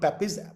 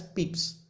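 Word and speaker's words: Pepys: We pronounce this not Pepis but as Peeps.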